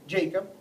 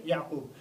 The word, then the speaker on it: Yaqub: And in English the way you pronounce Yaqub is Jacob. But as I said, the proper pronunciation is actually Yaqub.